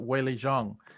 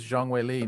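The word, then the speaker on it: Zhang Weili: here's the thing um when I first started following or started hearing about Jang way Le I pronounced it way Jang and I learned that actually uh in China they pronounced they they announced their last name first which is Jang and then the first name waye so she is Jang we not way Jang and uh and she's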